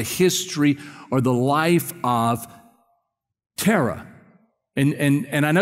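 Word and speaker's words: Terah: Tara or Tara yeah Tara would probably be the Hebrew pronunciation we would say Tara because we're Texans you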